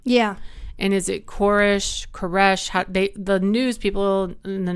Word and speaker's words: Koresh: And he said, have you ever been with anybody when they died and took their last breath and they go, shh?